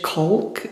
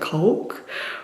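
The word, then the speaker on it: caulk: little gaps with um to me it looks like it says culk, but I feel like whenever I've heard people pronounce it, they say like coke or something.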